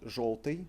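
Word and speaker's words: жёлтый: However, we pronounce it in word желтый as o, желтый.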